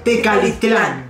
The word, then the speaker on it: Tecalitlán: de tecalitlán porque siempre recapitular de carlos lados pronunciando bien mariachi vargas de tecalitlán bien porque ya tenemos la duda de todos